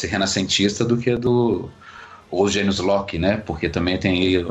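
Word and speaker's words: genius loci: A pronúncia correta em latim é Janus Locke.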